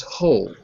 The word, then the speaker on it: whole: ah how so we add the e becomes whole that's called opening the ear the magic e